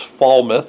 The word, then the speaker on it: Falmouth: the Falmouth Alma 'the looks like fall mouth but it's fall myth i believe up there in Maine